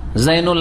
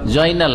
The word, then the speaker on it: জাইনুল: জাইনুল আবেদিন, শুদ্ধ নাম জাইন। হ্যাঁ, আমাদের দেশের লোকের কি বলে? জয়নাল আবেদিন।